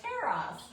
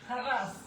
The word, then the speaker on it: Taras: My husband has been, because if I would have just looked at a paper, I'd be like, Taras. And he's like, no, that's not how it's pronounced. So, you really roll the R. Taras.